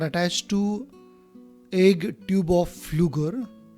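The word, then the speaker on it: Pflüger: These egg nests are attached to egg tube of Flügger. Here P is silent.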